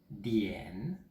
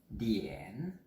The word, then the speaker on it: 点: Donc le mot heure en chinois se dit dian, je vous reprononce dian, D-I-A-N, troisième ton.